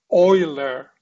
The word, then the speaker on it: Euler: his name is koshi this german his name is oiler this german is called